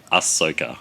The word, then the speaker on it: Ahsoka: pronounce that next one this one just say Ahsoka that's it Ahsoka Tana is the main